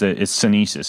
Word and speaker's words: sinensis: So we've got cordyceps and it's Sinesis is how you pronounce that, right?